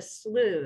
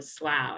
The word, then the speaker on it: Slough: locals call it a Slough instead of a Slough it rhymes with stew that's good to know